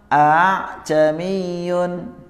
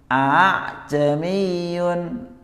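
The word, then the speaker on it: ءَأَعْجَمِيٌّ: A'jamiyun. Tapi tanpa panjang ya, tanpa panjang, bukan bukan. Ini kepanjangan. A'jamiyun.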